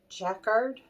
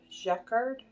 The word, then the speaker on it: Jacquard: I'm saying it right is yet Jacquard jackard j-a-q-u-a-r-d I think is how you say it it's they're either